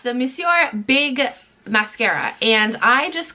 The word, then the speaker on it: Monsieur: In that video, I pronounced it Monsieur because I was like just sounding it out, like I was reading it how it looks like it should be said, but it's actually Monsieur.